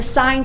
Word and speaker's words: sin: the abbreviations like this they are still pronounced sine cosine and tangent not sin cos and tan so for this first